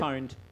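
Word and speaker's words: pwned: Poned. Poned. So P is P and O at the same time.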